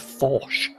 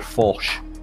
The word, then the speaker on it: Fosh: and youtube chat for telling me that it is uh pronounced fosh uh samir fosh in eighth place there